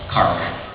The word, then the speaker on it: Cork: So I decided to stop off and do a little sightseeing, and I was in Cork, Ireland, pronounced Cark if you're over there.